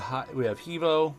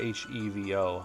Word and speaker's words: HEVO: We have Hevo, or Hivo. How do you pronounce this abbreviation? They usually abbreviate H-E-V-O. I say Hevo.